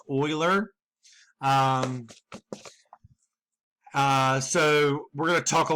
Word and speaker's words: Euler: what we call an Euler circuit I know it starts with an e but it's actually pronounced or so we're gonna talk